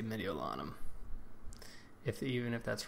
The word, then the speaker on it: Mediolanum: But that is how they pronounce this province or this town, Mediolanum. So I'm going to say Mediolanum.